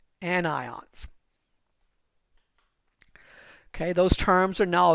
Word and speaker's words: anion: now negative charged are called anion a n i o n an ions okay those terms are